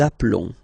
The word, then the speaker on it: appelons: Nous appelons. Okay, final s doesn't exist.